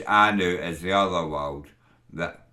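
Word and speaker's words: Annwn: to the W it's SP andin but it's pronounced Anu to the W Anu is the other world that that's the turn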